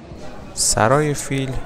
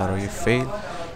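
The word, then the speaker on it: سرای فیل: Saray Fil, or maybe we should say Saray Feyl as it's the correct pronounciation, is a caravanserai of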